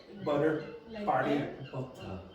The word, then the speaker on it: butter: If you want to be understood by most people who speak English or listen to English, pronounce the T like t. Don't change it to what's called a flap butter.